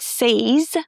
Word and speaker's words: says: It's not says. Y is not pronounced says. Just because she says what everyone's thinking, but no one's got the nerve to say.